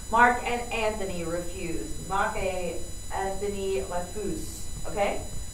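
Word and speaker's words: refusent: This is still pronounced refuse. A lot of English speakers really want to pronounce this ENT at the end, but you don't. It's just refuse.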